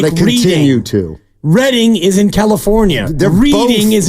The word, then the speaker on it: Reading: How do they spell Reading, California? Do you know? 2 Ds. Correct. Because that's how you pronounce Reading.